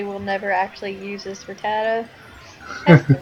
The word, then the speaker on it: Rattata: I probably will never actually use this Rattata. That's the right way to pronounce it.